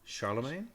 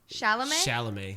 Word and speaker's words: Chalamet: I How do you like pronounce him. his last name? Charlemagne? Chalamet?